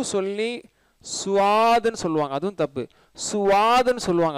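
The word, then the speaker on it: صاد: அதனால இது வந்து எஸ்யூவிடி மாதிரி தான், அது யூ வந்து சைலண்ட், சுவாத் சுவாது, சரிங்களா.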